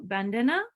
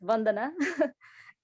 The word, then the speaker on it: Bandana: happened on Facebook and I'll go quickly to Bandana and apologies if I if you could let me know I'm pronouncing your name correctly um thank you Savin